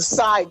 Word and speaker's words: SciEd: And so the side chick was born. It's spelled SCIED, like fusion of science and education. I call her the side chick.